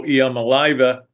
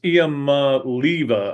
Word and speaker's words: Iamaleava: is, of course, Nico Iamaleava, Luva, whatever his name is. I even heard Christine Lisi mispronounce his name on. It's hard. It's a hard name because it's Iamaleava, I think. There may be Leva.